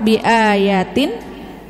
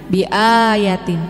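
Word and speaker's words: بِآيَاتِ: ibu-ibu keren man kafaro biaytin Minal Qurani faqod kafar betul Man kafaro B a-nya Kurang panjang ya tadi kan bacanya panjang biayatin ya benar tapi enggak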